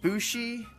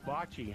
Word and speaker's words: bocce: how is it pronounced is it bushy or Boucher it's Bocce homes so that is bocce uh a fun social